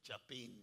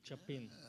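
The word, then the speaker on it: Chapín: Pronounced that good, didn't you? Chapin. Chapin.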